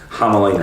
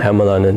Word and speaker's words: Hämäläinen: Niko, Hämäläinen. Hämäläinen. So it's not actually that difficult, but everyone looks at it, looks at all the letters and it's like, wow. Accents and letters on stuff, it's Hämäläinen. Hämäläinen, yeah.